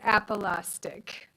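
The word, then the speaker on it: apolaustic: I won the spelling bee and the word appolastic anyone want to take a shot at it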